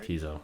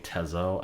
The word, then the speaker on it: Teezo Touchdown: Teezo. That's how you say it? Teezo Touchdown. Brandon kept saying Tezo, and in my brain I was like Stop it. please.